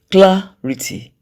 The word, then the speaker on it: clarity: Clarity. Clarity. The stressed syllable there is cla.